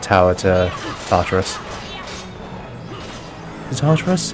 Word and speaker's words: Tartarus: Is it Tartarus? How do you spell it? How do you pronounce it? Yeah, it is Tartarus.